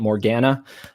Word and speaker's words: Morgana: Morgana, right? That's how you say it, Morgana.